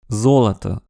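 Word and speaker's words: золото: O est notamment prononcé a zolat. Or ici, les deux derniers O sont prononcés comme des A.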